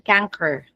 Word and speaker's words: chancre: May narinig ako pronunciation canker, pati ang spelling niya chancre, C-H-A-N-C-R-E.